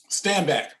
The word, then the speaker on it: Stanback: Stanback, is that how you pronounce his name? Mm-hmm. Yep.